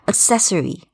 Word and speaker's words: accessory: Accessory, all right? Bathroom accessories. Okay, the second syllable is emphasized.